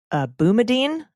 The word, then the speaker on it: Boumediene: But while the ACLU cites a case called Boumediene, I think I'm pronouncing that right.